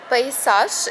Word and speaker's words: Paysage: Paysage is the name of Gigi's organization. This is the correct French pronunciation according to my research.